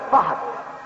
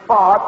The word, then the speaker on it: Fard: They call him Professor Fahd, mispronouncing his name, which is Fard, which is a Turkish